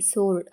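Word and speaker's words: sword: ತಪ್ಪುಎನ್ಎಸ್ಡಬ್ಇ R answer ಅಂದ್ರೆ ಉತ್ತರ ಎಸ್ ಡಬ್ಲ್ಯೂಓ ಆರ್ಡಿ ಸೋರ್ಡ್ ಅಂದ್ರೆ ಖಡ್ಗ ಇವಿಷ್ಟು ಪದಗಳಲ್ಲಿ ಕಾಮನ್ಆಗಿ ಡಬ್ಲ್ಯೂ ಸೈಲೆಂಟ್ ಆಗಿದೆ ಮೇಲೆ ಕೊಟ್ಟಿರುವಂತಹ ಪದಗಳಲ್ಲಿ ಉಚ್ಚಾರಣೆಯನ್ನ ಮಾಡಿ ಯಾವ ಯಾವ ಅಕ್ಷರ ಸೈಲೆಂಟ್ ಆಗಿದೆ ಅಂತ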